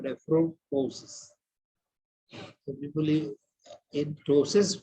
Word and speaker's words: ptosis: So people in ptosis, P is not pronounced, but in nephroptosis, you can also pronounce it as nephroptosis.